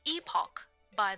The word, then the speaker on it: epoch: It's pronounced epoch, by the way.